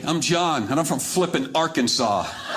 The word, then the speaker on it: Flippin: Name of the town is spelled F L I P I N. Hey, I'm John and I'm from Flipping Arkansas.